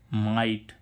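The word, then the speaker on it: mite: तो इस आई का उच्चारण क्या होगा? आई, यानी कि माइट।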